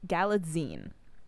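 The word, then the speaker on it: Galitzine: Galatstein? Sir, ma'am, I didn't know his name. Galatzine.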